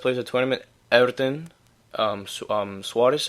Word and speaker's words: Soares: of tournament Everton um Soares I think his name is not Suarez well you know the Portuguese pronunciation ever since Wallisch or